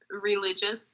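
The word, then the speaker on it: religieuse: And so we had, it's called Religious. That's like the very American way to pronounce it.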